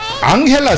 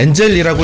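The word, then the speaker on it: Angel: 자 앙헬 앙헬 앙헬 어 저는 이제 엔젤이라고 읽었는데 엔젤이 아니라고 하네요 맞습니다 한국에 또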